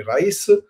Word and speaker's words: rais: Origini pare Liguri e il Rais con ris con l'accento diverso sulla i quindi Rais il capo della tonnara Sì stato il Rais